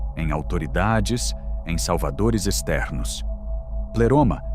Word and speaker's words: pleroma: Terceira palavra, pleroma pronunciada, pleoma.